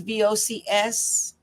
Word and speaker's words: Vocs: and Vox is VOCS? Yeah. Vocals, like vocals.